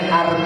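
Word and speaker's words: Hermès: itunya berarti gak tahu masih pakai barang KW bacanya arm bukan arm itu bahas loh Kok bahasanya tulis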